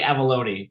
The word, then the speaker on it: Avallone: oh it doesn't matter it's avaloni but it's everyone says it wrong so I never corrects